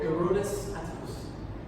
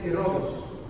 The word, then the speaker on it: Herodes Atticus: demanding on the names, don't forget the names vary, depending if you spell it in Greek or in Latin. This is the Latin spelling. In Greek you say Herodos. Herodos Atticus. Atticus, when you see US, it's always Latin.